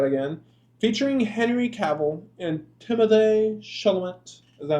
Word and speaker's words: Timothée Chalamet: So this is Invincible trailer, fake trailer, I'm going to say that again, featuring Henry Cavill and Timothée Chalamet.